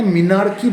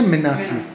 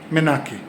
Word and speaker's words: menarche: যদিও এটার বানান হচ্ছে MENARCHE, আমরা কিন্তু এটাকে মিনার্কি বলবো না, এটা হচ্ছে মেনাকি। মেনাকি, আটটা উচ্চারণ হবে না, মিনার্কি না, মেনাকি।